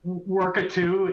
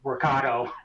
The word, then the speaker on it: Workato: employee expense management uh worku is a sorry workato I mispronounced that is a API integration